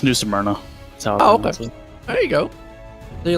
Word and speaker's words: New Smyrna: always mispronounce this right amirna smyrna how you pronounce it uh it's new smyrna oh there you go